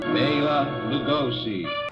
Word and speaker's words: Bela Lugosi: I always get telling me I said his name wrong. So here we shall meet Bela Lugosi.